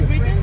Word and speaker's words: New Britain: ¿Es cómo se pronuncia? New Britain, ajá.